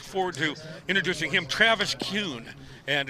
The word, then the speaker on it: Kuhn: Look forward to introducing him, Travis Kuhn. And it's pronounced Kuhn, even though it's K-U-H in the last name.